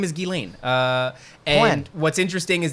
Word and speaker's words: Ghislaine: It's Ghislaine. How would you pronounce Ghee? Is that Ghislaine? Yeah, like Guy. Ghislaine. Okay, so her name is Ghislaine.